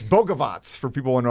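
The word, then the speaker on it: Bogavac: And it's Bogovac for people who know how to pronounce the last name.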